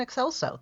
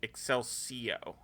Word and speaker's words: Excelso: Yeah, but no, it's Vox. Yeah, Vox and Excelso. That's correct. Okay. Yeah. I mean, that's people... how it is. I mean, because that's how it's listed on Paramount Plus and on Memory Alpha. But like, I've seen a bunch of people calling it Excelcio.